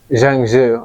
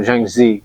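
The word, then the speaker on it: Zhuangzi: So we're going to go into the full quote here by Zhang Zhu, I think is actually how you pronounce his name, or Zhang Zi, Zi being a title meaning like sage.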